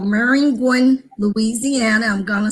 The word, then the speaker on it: Maringouin: a little town west of Baton Rouge called Maringouin, Louisiana. I'm gonna spell it because as we move on along in our conversation, you're gonna want to know about Maringouin. It's okay. Maringouin, and it's actually French for mosquito.